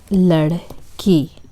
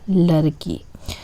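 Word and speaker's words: لڑکی: A lot of my students are still practicing, so they can't really say ladki. They usually pronounce it as ladki. But I do understand because it's very different. This sound does not exist in English.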